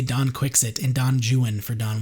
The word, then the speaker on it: Don Quixote: So Cervantes, who wrote Don Quixote, or if you are my English teacher from UCLA, Don Quixote, they refuse to pronounce it in the Spanish way because the English at that time didn't.